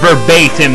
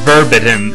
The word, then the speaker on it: verbatim: something else apparently uh the word verbatim is pronounced well verbatim not verbatim like I pronounced it in the first video